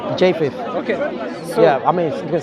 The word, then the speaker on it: Japheth: Japhet. Japheth, yeah. Yeah. How do you say? Japheth.